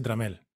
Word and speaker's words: Tramiel: se dice tramel este se escribe tramiel pero se dice tramel y eso fue motivo